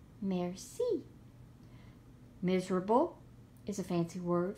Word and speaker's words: merci: is fancy for interesting merci thank you in French you say it like this merci miserable is a fancy